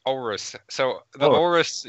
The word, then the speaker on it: Aorus: I can't pronounce it. It's just like Aorus. No, it's Aorus.